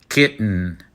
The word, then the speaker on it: kitten: But do you really hear the T sound when we pronounce it? Kitten, fountain, mittens.